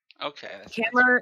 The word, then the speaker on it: Kammer: Kammer is like a German word for chamber.